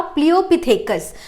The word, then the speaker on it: Pliopithecus: देखिए, सबसे पहला जो हम लोग कवर करेंगे वो है आपका प्लियोपिथेकस। प्रोनाउंसिएशन अच्छे से होना चाहिए। नाउ दिस इज प्लियो, हाँ, पिथेकस।